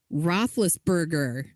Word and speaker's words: Roethlisberger: So our next one is Ben Rothlisberger. That's right, everyone. I spelled it phonetically.